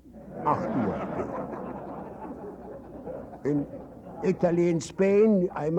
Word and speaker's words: Artur: spelled without an H, because in Polish my name is Artur. In Russian it is Artur. In German it's Artur. It sounds like 8 o'clock. Artur.